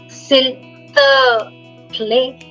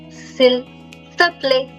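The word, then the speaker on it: S'il te plaît: Sil, the play. Sil, the play.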